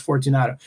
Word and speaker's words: Fortunato: Now, this is spelled 4770, which I love, but pronounced Fortunato.